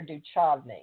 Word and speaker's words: Duchovny: How do you say it, David Duchovny or Duchovny?